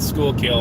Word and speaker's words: Schuylkill: That name, that's how you pronounce it, Schuylkill.